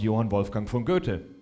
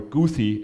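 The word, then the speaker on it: Johann Wolfgang von Goethe: one of them was Yan wolfang f g or guy as Americans pronounce him and he was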